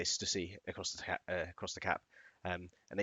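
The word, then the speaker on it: Stüssy: It's got like a, I think it's called an epsilon or something. What's it called, this thing above the U here? There's like two dots. Umlaut. Umlaut, that's it. So it's supposed to be pronounced Stussy.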